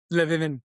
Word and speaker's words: Le Vin: were Reginald, you had Imma get this name wrong, Le Vin Vin? Levin, right? Le Vin Vin, okay, cool. Levin, wine, like really weird.